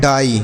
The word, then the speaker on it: dye: DYE, देखिए क्या पढ़ा जाएगा, इसे हम पढ़ते हैं डाई। DYE डाई।